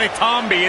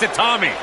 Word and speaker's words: Itami: It's not Itami, it's Itami.